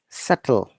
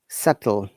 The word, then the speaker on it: subtle: silent like dead doubt subtle uh remember guys if there is b and t together uh b is always silent these are some examples